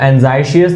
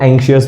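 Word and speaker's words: anxious: तो बहुत लोग क्या है, एंजाइटी का एडजेक्टिव है, इसको एंजाइशियस बोल देते हैं। मैं भी बोलता था जब मुझे नहीं पता था उसका प्रोनाउंसिएशन, जैसे शायद आपको ये वीडियो देखने से पहले नहीं पता था। तो इसको एंजाइशियस नहीं बोलना, इसको एंग्शियस बोलना।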